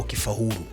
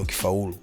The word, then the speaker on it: ukifaulu: Amesema ukifaulu lakini huku imeandikwa ukifahuru. Unajua sasa wewe ukifahuru ni sisi ila ukifeli ni wewe. Ukifaulu ni ukifaulu kwa sababu ukishasema ukifa imeshaeta maana nyingine tofauti butas. Matamshi yake ni ukifaulu.